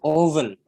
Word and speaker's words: often: Membacanya itu often, T-nya hilang. Jadi often, ya, Asian values often.